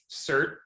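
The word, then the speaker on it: certiorari: all pronounce writ of cert differently what is your go-to pronunciation i say cert because i can't say this sir cersari ari why do you always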